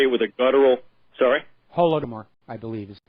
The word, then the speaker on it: Holodomor: Holodomor, I believe, is the pronunciation. Yeah, I think you say it with like a guttural R if you're from the region.